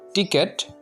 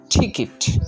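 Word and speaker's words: ticket: 7 নম্বরটা, এটা আগে আমরা উচ্চারণ করতাম টিকেট। এখন আমরা এটা সঠিকভাবে উচ্চারণ করব। এটা সঠিক উচ্চারণ হচ্ছে ঠিকিট।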